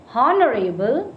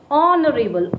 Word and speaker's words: honorable: Again, H is silent. It is not honorable. That is wrong. It is honorable.